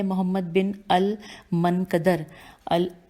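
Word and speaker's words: المنكدر: दूसरे नंबर पे नाम है मोहम्मद बिन अल मनकदर। अल हिज्जे करते हैं मोहम्मद बिन अलिफ लाम मीम नून काफ दाल रे, अल मनकदर।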